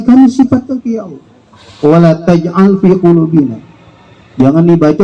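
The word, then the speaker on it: وَلَا تَجْعَلْ فِي قُلُوبِنَا: alladzina sabaquna bil iman wa la taj'al fi qulubina ghillan lil ladzina amanu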